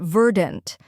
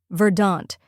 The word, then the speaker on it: verdant: the correct pronunciation is verdant let's break it down first we have vur which rhymes with fur and has a soft R sound next we have DNT